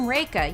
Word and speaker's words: Rekha: a little mnemonic like I'm rekha you know like rake is in the thing for leave and I still get